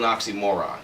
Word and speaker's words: oxymoron: just makes no sense it's called an oxymoron the emphasis on the last syllable sorry the last two my bad we got this